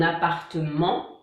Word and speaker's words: appartement: Ensuite, on a les mots qui finissent par MENT, ment, donc là on ne prononce pas le T, comme un document, un appartement.